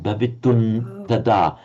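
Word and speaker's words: भवितुम् तदा: We write bhavitum with an M with a dot under, followed by tada, but it would be pronounced as a n because of the following term, bhavitun tada.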